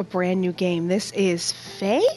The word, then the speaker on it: Fe: game this is Faye I actually had to look that up to see if I could get the name right and I heard five different pronunciations in different videos so we're gonna go Faye just cuz I think that sounds like the best one here so we're gonna